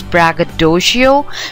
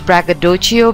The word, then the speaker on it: braggadocio: pronounce this word as braggadocio but let me tell you that the correct pronunciation is braggadocio because this word is derived from an italian word braggadocio okay um bracadocho was